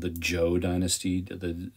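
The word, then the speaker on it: Zhou: this is called the Joe Dynasty the the zh transliteration in China is pronounced with a J sound but um the Joe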